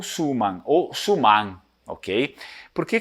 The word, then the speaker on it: Suman: por isso que eu tenho a tendência de falar suma de colocar a sílaba tônica na primeira assim como sempre se faz nas línguas de providência Germânica né É mas em Veneto provavelmente a pronúncia vai ser somar mas ele deriva da